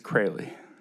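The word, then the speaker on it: Kroehle: My last name is Crayley. And how do you spell that? K R O E H L E. It's got a bunch of extra letters.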